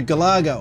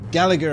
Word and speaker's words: Galaga: game adhere from 1981 it goes to Galaga or Gallagher as you guys seem to want to pronounce it overseas most of these that I've bumped into pronounce it as Galaga and that's how I'm going to keep pronouncing it myself but this was a